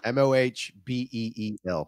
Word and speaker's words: Mobile: MOHBEEL.